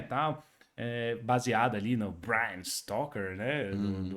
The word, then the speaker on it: Bram: Baseada ali no Bram Stoker, né? É Brian? Bram.